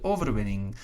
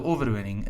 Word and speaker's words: overwinning: the victory is the overwinning the overwinning again notice the n and the g will pronounce it just like in english wing thing sing king and so on right